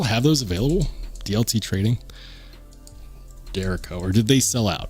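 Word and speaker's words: Derecho: it's they confirmed it is in fact the dero so this guy right here it's the dero or at least that's what Brian from sharp by Design says uh they still have those available DLT trading dero or did they sell out I bet they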